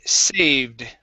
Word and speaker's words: saved: to uh the word saved right here instead of saved this e right here is silent okay it's saved try that saved saved